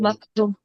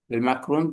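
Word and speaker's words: مقرون: মাকরুম। মাসরুফ মাকরুন মাকরুম। না, উচ্চারণ হচ্ছে এভাবে, আমি যেটা বলতেছি সেটা সহজ।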